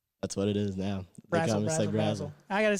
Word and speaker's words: Brasel: But, what is it? It's Brazel.